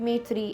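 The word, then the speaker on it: Maitree: कराया था मैंने कि मैत्री को you have to like pronounce it इन अ बंगाली अ वे ठीक है क्योंकि मेर को तो नहीं आता है वैसे बट यू can like it's मोथी ऐसे करके कुछ नाम है ठीक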